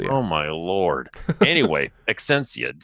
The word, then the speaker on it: Exscientia: give a guess here, Exscientia. I'm going to guess how to pronounce it. EXSCIEN for like science.